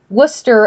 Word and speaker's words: Worcester: speakers I mean consider the fact that Worcester actually has whole syllables in it that you don't pronounce anyways so it's a